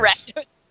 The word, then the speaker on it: Rakdos: It's pronounced Rakdos. Rakdos.